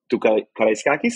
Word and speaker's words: Karaiskakis: What can you tell those Maccabi fans who are going to go to Karaiskakis? That's the way to pronounce it? Yes, absolutely. Great.